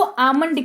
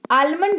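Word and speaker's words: almond: पास है बादाम जिसको आमंड कहते हैं आलमंड नहीं पढ़िए कृपया करके स्पेलिंग रूल्स के खिलाफ है ये आलमंड नहीं पढ़ते हैं इसको इसको आमंड पढ़ते हैं ठीक है आमंड पढ़ते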